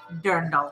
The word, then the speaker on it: dirndl: the dirndl there no I love it is pronounced dirndl it's beautiful and it is the dress if